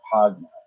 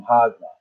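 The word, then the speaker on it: Jagna: It's spelled Janga, Hagna, but not with an H. The H sounds like a J. "I'll come and visit you tomorrow because I want to experience the beaches in Hagna."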